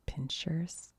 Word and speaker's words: pincers: Have I said pinchers? I don't know if that's where I'm from or if that's how you say that, but they show it without an H, so I feel like it's pincers.